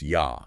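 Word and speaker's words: я: And then Russian in Russian I is pronounced yah.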